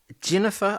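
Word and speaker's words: Ginnifer: Um, Jennifer, I think that's how you pronounce it. Spelled with a G.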